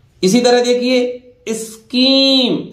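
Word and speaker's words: scheme: इसी तरह देखिए स्कीम, सी एस ए काई मान लीजिए आप, एच साइलेंट रहेगा, स्कीम ए लार्ज स्केल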